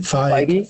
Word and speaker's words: Feige: How do you pronounce it? Feige.